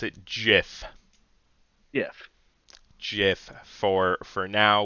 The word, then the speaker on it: GIF: For now, we are going to pronounce it Jiff, even though everything in my body tells me that's wrong. The guy who made the GIF format pronounces it as GIF, and he's just as wrong.